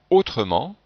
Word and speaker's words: autrement: à l'intérieur d'un mot on entend le son e quand il y a deux consonnes avant le E par exemple dans le mot autrement et bien devant le e il y a deux consonnes et ici si je ne prononçais pas le E on aurait trois consonnes le T le R